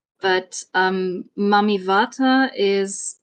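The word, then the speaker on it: Mami Wata: right about the pronunciation it's mamat with a V sound although it's written with a W but um mamy Vata is U an African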